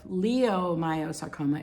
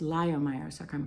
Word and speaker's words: leiomyosarcoma: a german name and instead of leomyosarcoma it's pronounced lyomyerosarcoma because l-e-i versus anyway so anyway